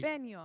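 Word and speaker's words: jalapeño: understand the proper pronunciation of the vowels in Spanish, you understand how to pronounce the word properly.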